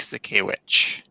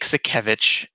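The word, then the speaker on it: Sakiewicz: out the cup and he announced Commissioner Nick sack a witch and yeah it's a tough name to pronounce but you're the guy who works for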